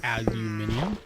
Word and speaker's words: aluminium: We need some of the aluminum, or aluminium, wherever you're from is how you pronounce it.